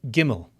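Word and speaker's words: גימל: Next, we have gimmel. Gimmel, which makes the G sound like in game.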